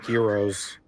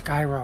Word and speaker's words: gyros: I've had some really good heroes. I think that's how you pronounce them. Euros. Euros. Oh, no. It's gyros.